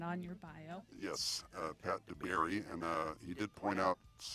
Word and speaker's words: Dabiere: Yes, Pat Dabiere, and he did point out a few days ago that I spelled his name wrong in our promos.